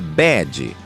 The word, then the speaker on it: bed: em cima da bed perceba que a palavra bed que significa cama é diferente tanto em pronúncia quanto em significado com a palavra Bad